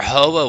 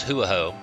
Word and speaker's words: Ho-Oh: I remember Ho-Oh was Hoo-Oh, because I just couldn't grasp doing those 2 phonetic sounds together. Ho-Oh, that was just too complicated for me to say. I just couldn't do it.